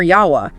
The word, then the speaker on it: Yahweh: But then he presents his own argument for Yahweh as the most accurate pronunciation.